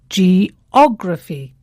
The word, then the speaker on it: geography: of its stress yes now geography has four syllables g o grai and the stress falls on the third syllable from the end geography not geography geography or